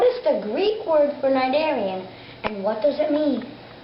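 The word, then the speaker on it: cnidarian: facts about invertebrates and that invertebrate will be nigarian which is spelled c n i d a r i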